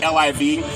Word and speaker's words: LIV: It is pronounced LIV as Live Free, and it's not an acronym.